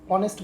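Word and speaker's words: honest: भी देखें ठीक है तो साउंड के हिसाब से जो ह है बच्चों ह यहां पर साइलेंट है तो जो साउंड निकल के आया वो वॉवेल का निकल के आया है ऑनेस्ट बोलता है उसको ऑनेस्ट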